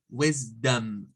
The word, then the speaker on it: wisdom: And for the O, we have to use the schwa. It's the schwa zone. It's like dum, wisdom.